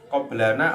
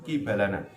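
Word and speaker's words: قِبَلَنَا: dhahara iku temen-temen tampak qoblana apa kibalana kibalana. Nah, yang betul itu kibalana. Kalau ada qoblana kurang pas. Kibalana ya, yang betul kibalana. Tulisannya soalnya podo, membacanya beda.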